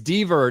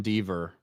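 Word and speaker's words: Dever: see anything thank you it's dver not Denver yes sorry Caitlyn dver Caitlyn dver Caitlyn dver not Denver it's spelled really close to Denver so I I said it wrong Andre CR we can't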